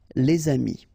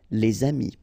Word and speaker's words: les amis: this one, amis, friends, then you should make the liaison, les amis, all right, les amis.